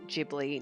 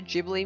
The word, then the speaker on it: Ghibli: good eager Shikari says I thought it's supposed to be a hard G in Ghibli no no no it's a jeopardy and I know that